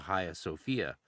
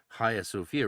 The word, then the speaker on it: Hagia Sophia: And then it reappears of course in the Haya Sophia famously um Hagia Sophia for for some of you people if you're trying to spell it. Haya Sophia, right?